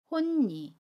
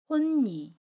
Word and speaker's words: 홑이: 받침소리 디귿이 첫소리 자음 니은을 만나서 니은으로 발음합니다. 혼니, 혼니.